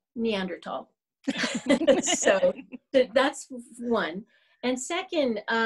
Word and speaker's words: Neanderthal: Either way, whether it has an H or not, it is Neanderthal.